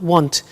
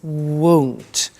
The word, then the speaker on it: won't: the money is won't be careful with the pronunciation it's not want it's won't so the example is I won't buy it or I